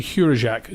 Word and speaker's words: Hurajak: It's actually Hurajak, John Hurajak.